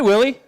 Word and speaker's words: Willy: of people so hi my name is Willie it rhymes with silly gotcha that one tunnel